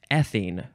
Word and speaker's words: ethine: okay next is ethine ethine emphasize that first syllable ethine noun from 1869